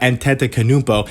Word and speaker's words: Antetokounmpo: I usually say Antetokounmpo, but Antetokounmpo is his real name.